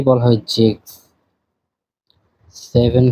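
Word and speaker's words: sechs: পাঁচের এখানে উমলাউট আছে আচ্ছা পাঁচ কে বলা হয় ফুংসলাউট আছে এখানে এরপরে ছয় কে বলা হয় জেক্স জেক্স সাত কে বলা হয় জিভেন জিভেন আট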